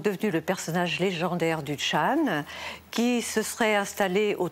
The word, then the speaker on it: Chan: Et Chan est la prononciation chinoise du caractère qui en japonais se prononce zen. Et en coréen, puisque c'est aussi une école qui s'est installée en Corée se prononce sonne.